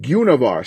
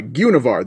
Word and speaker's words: Guenhwyvar: or yeah you know some people are pronouncing her name var but gunavar sorry gunavar that's the way you're supposed to say it univar is a panther